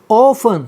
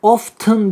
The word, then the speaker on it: often: Often, bakın dikkat often değil. T burada okunmaz.